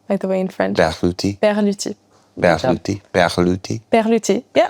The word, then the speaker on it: Berluti: Do you know how to pronounce Berluti, by the way, in French? Berluti.